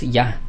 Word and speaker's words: Yah: Ah, sí es correcto que que la pronunciación adecuada es ya escrito y ah, h, pero esto ha esto